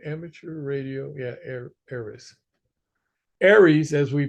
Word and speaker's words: ARES: ARES, as we pronounce it, is an all amateur organization.